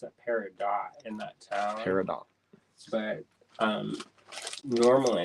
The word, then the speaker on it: peridot: Peridot. But normally it's pronounced peridot.